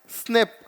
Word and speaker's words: SNP: इसको हम प्रोनाउंस करते हैं स्नेप, ठीक है, इसको हम स्नेप बोलते हैं, स्नेप है।